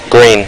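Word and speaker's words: Gruene: Green. Green is correct. Green is correct. Ice Gang. This is another one of those which is incorrect. It's a German word, and you should be saying that Groine.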